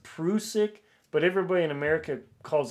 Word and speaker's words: Prusik: diego with the fruit now it's apparently it's pronounced prusik but everybody in america calls it prussic you know tomato tomato whatever people get all